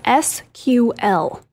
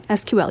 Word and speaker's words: SQL: I do with that you have two options you can say the letters and that's fine SQL you can also say SQL uh anything else don't no sequel yeah yes um this